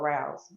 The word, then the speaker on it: Rouse: production company it's called Rouse and nobody really asked me what rounds mean but Rouse is a play the way I spell it is Roz but it's really spelled r-o-u-s-e so that means to